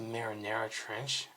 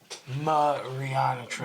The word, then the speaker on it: Mariana Trench: I want to say Marinara Trench. Am I saying that wrong? The trench. How do you spell that? Or how do you pronounce that? Mariana Trench. Mariana Trench. Yeah, Mariana Trench.